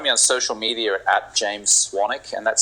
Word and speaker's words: Swanwick: on social media James swanic and that's spelled j a m s s w n w i c k my name is actually spelled Swan Wick but it's pronounced swanic um if you're interested